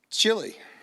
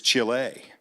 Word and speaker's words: Chile: like to go so i said chili and then he corrected me he said it's chile so so i learned how